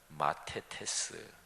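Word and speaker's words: μαθητής: 구별되고 그리고 종종 대조됩니다 헬라어로 하면 물이 이거는 5 클로스라고 발음해요 제자는 마테테스 이렇게 발음합니다 무리는 그저 호기심에서 구경하거나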